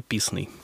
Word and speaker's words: Писный: Правильно я сделала ударение, Кирилл? Или Писный добрый все-таки? День. Вообще, как удобно, но в принципе правильно Писный.